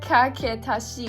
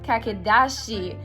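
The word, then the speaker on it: かけだし: So instead of kaketashi, which is what I thought that it was, it's actually kakedashi.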